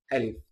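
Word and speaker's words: ألف: And again, this one again, it's pronounced as Alif.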